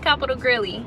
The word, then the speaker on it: Capital Grille: what they talking about it's not Capital grilly it's Capital Grill I'm going to bust